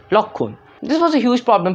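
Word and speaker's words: লক্ষণ: It should be pronounced Lakshan, but it's pronounced Lokhun.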